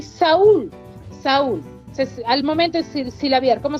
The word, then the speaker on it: Saúl: La U lleva tilde. ¿No es así? Muy bien, entonces se separa. Saúl. La S con la A, con la vocal abierta, la U, que es vocal cerrada, con la L, pero lleva tilde.